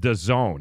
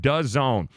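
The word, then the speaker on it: DAZN: know what this is Daz and it's called the zone that's how it's pronounced does add as and we're gonna fight good job Joe Dassin pronounced does own it is a monthly service streaming service for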